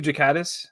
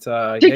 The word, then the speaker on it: Ghikadis: So yeah, I'm Ghikadis. That's how you pronounce it, but Ghikadis.